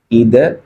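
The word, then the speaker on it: either: अब इसमें दो एक पेयर्ड वर्ड्स यूज होते हैं, एक होता है ईदर, या इसको अमेरिकन लैंग्वेज में आइदर भी बोल सकते हैं, और ठीक है, या नीदर या नाइदर।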